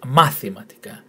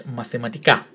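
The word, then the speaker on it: μαθηματικά: So you will never hear in Greece this word pronounced mathematica or mathematica. It's either this, this, and that, the last three syllables only. So on this particular run is mathematica, and it's mathematics.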